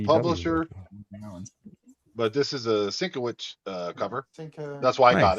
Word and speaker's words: Sienkiewicz: It's Sienkiewicz. It's Sienkiewicz. Okay. If you actually go to his website, he actually phonetically puts it on there. Really? It says Sin Kev Itch. Yeah, correct.